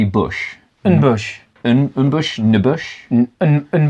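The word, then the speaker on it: N'Bushe: quickly the bush right it's n apostrophe Bush and Bush and Bush to Bush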